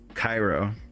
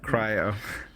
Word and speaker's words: Cairo: think of it yeah think of it like the capital city of Egypt the name of a